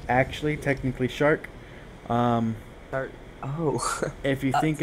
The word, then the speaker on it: searc: The So similarly for s e a r c it's pronounced technically shark. Most people read it circ or sherk or something